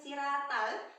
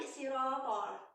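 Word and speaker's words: صراط: Jadi ini huruf to tebal. Jadi bukan siratal tapi sirotol, ya, tebal.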